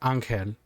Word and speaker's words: Angel: the kof character and if you're having a conversation in spanish then you're obviously going to be calling her anchen right yeah because that's the pronunciation of each language exactly okay uh i